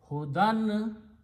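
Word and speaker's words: هدى: Hudan means a guidance. Hudan, Dal is pronounced with the noon sound, and ya is not pronounced, it's just written there because it is there in the original root letters.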